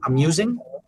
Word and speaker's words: amusing: I understood a music, and I was like, Right. Yeah, it's a tricky word for pronunciation.